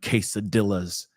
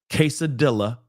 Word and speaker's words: quesadilla: day, eating burritos and quesadillas and churros. I'm kidding. Quesadilla is not how you pronounce it. Okay. I know, but still, it's just for comedy. But moving on. Quesadilla, just so you know.